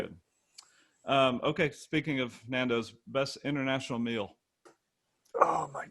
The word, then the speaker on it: Nando's: you say it nando's honda's nando's non-dos it's nando's but it's all right nando's um i was